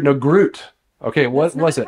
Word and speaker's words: Groot: how you say it Groot it's still going to be so bad no our Denmark ladies are going to be like please stop it's so the g is silent but you guys need